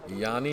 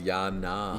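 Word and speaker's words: Yianna: years ago we miss we mispronounced Yanni is a point I'm the correct is yeah na yeah na sorry yeah I always seen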